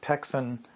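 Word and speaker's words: Tecsun: is the one and only there's companies like texan t-e-c-s-u-n or sangian sanjian however it's pronounced that produce radios with very similar performance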